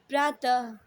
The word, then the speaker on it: प्रातः: विसर्ग का उच्चारण अ की आधी ध्वनि, ध्वनि मतलब आवाज़ के समान होता है, जैसे दुख, अतः, प्रातः।